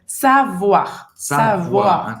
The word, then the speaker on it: savoir: assim e só pra gente voltar aqui na pronúncia do savoir Lembrando que o oi em francês tem som de Então savoir como f um o a sair muito bem